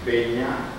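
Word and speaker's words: Penha: Originalmente el Peña aparece en Portugal con P-E-N-H-A, se pronuncia Peña, entonces al incorporarse a América Latina pasa a llamarse Peña o Núñez.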